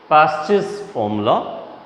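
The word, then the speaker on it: Paasche: My pronunciation is Pasch's formula, P-A-A-S-C-H-E-S. Just keep it a watch on that particular spelling, the name of that one more economics, Pasch's formula.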